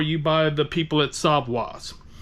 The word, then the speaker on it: savoir: spin this around okay first up we have savoir not Savoy savwa savwa's pork tasso all this is